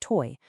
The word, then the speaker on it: TOI: It's the very puzzle that TOI Chain, and that's TOI, pronounced toy, was specifically designed to crack.